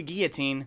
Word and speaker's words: guillotine: Like a guillotine, because you don't pronounce the L in guillotine.